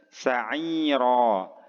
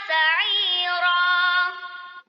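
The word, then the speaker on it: سعيرا: Kemudian sa'ira. Ainnya panjang satu ayunan dan ro-nya juga panjang satu ayunan ya. Silakan didengarkan lagi, diperhatikan cara membacanya. Wa yasla sa'ira.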